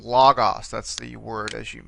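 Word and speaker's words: λόγος: Here you see, in this case, this particular word has an accent on the penultimate syllable, this omicron. Logos, that's the word, as you may know, for word.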